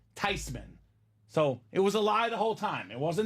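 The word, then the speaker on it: Theismann: okay with it it's actually supposed to be pronounced tyman so it was a lie the whole time it wasn't thean it's not Theisman the proper pronunciation is actually Joe tysman whatever you want to call him he's a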